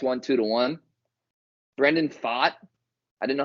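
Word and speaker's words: Pfaadt: two to one Brendan fought I didn't know how to say his name but I learned it because he pitched great I thought it was fat but it's fought apparently pitch against Ranger Suarez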